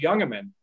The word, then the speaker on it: Jungemann: and somebody said well how do you say his last name because it starts with a j and they said oh it's younger men and i i don't